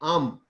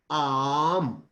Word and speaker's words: Aum: और स्टॉप करने का बाद आपको प्रोनाउंस करना है आम, लाइक आम, AUM.